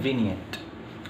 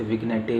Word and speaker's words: vignette: Next term है विनियट। इसे विनियट ही पढ़िएगा, इसमें जी साइलेंट होता है, इसे विग्नेटे विग्नेट मत पढ़िएगा, ठीक।